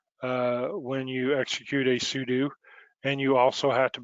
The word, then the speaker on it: sudo: you might type sudo some other people might pronounce that slightly different i was instructed that it stands for super user do so that's just how i learned to say it is sudo and then you type